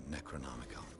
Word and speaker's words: Necronomicon: Hawkins never told me why she was in possession of the Necronomicon. Necronomicon. Oh, that's how you're supposed to pronounce it.